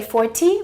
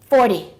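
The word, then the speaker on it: forty: So we don't say 40, we say 40.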